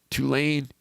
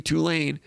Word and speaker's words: Tulane: lot of trouble against tulane last week by the way i heard i heard more people last week referring it referring to tulane as tulane tulane like a two-lane highway tulane has tulane been